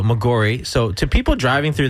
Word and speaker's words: Maggiore: I think it's Maggiore. I think it's mispronounced, actually. Yeah. Okay, there you go, Maggiore.